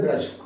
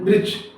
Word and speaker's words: वृक्ष: इसे ड्रम पढ़ेंगे और इसे व पढ़ देते हैं व्रक्ष व्रक्ष क्या पढ़ देंगे व्रक्ष जबकि यह वृक्ष नहीं है यह वृक्ष क्या है यह वृक्ष मतलब